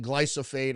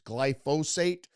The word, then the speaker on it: glyphosate: And I keep saying glyophate. I've been saying it wrong for years. It's glyphosate.